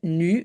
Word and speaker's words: nu: Oui, en Belgique, on va pas prononcer le O, on va dire nu, hein.